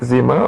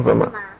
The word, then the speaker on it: Zama: And the honorable chief secretary, Miss Zamar, is it Zema or Zama? Zama. She she corrected me on the pronunciation of her name.